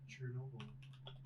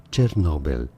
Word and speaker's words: Chernobyl: I'm hearing the pronunciation right now. It's Chernobyl.